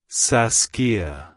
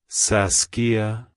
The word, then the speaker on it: Saskia: saxs it's pronounced as sasia sasia sasia to pronounce it correctly emphasize the a sound in the middle and end with a soft a at the end like Hello saskia Goodbye saskia if you